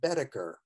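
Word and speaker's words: Boetticher: randolph scott and the director is named bud bedecker and i'll spell that b o e d i double t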